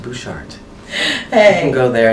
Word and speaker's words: Butchart: r-e-u-b-e-n and Bouchard is spelled Butch art but it's pronounced Bouchard hey you can go